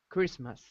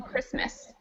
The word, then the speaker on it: Christmas: other you guys have Christmas o excellent so which letters are silent in Christmas H the H definitely and there's one more and the T yeah the T usually isn't pronounced either all right so as